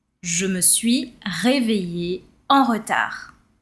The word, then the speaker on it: retard: Je me suis réveillée en retard. Be careful here, the D is silent. We are not saying retard. All right? So you stop at the R and it's retard.